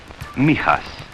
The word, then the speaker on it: Mijas: village here near the southern coast it is pronounced Mijas for most of my boys Neha's outside the